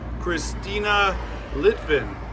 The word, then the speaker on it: Cristina Litvin: John carrots with OS radio I'm here with Christina litvin is that the right way to say it